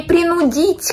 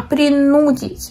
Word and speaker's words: принудить: Извините меня, пожалуйста, принудить, не принудить, как я подумала, а принудить.